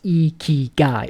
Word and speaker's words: Ikigai: So the best way to go about this is following your Ikigai, pronounced Ikigai. It's a Japanese concept that means a reason for being.